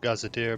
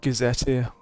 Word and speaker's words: gazetteer: I believe gazetteer, but I'm not sure certain. I would have said gazette here, because you normally say gazette. Oh, okay, you're right. Gazetteer. Makes sense.